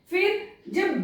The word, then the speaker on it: fridge: फ्रिज, ये है फ्रिज, FRIDGE, फ्रिज, यहां पर भी डी साइलेंट है।